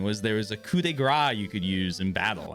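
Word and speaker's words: coup de grâce: When I was younger, I learned coup de grace, which I always pronounced coupe de grace until my mom, who speaks French, is like, why are you saying it like that?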